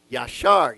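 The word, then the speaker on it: ישר: of god amen so this is pronounced from right to left because you have this is the y sound the a ya and this is s-h-a-r yashar you see that okay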